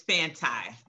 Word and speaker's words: Fanti: Sorry, it's Fanti. Fanti, okay. Mm-hmm. It's fan and anti together. Fanti.